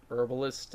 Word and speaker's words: herbalist: your herbalist and herbalists herbalist and herbalists pending to how you want to pronounce it there is a H in it so it should be herbalist ah alrighty well I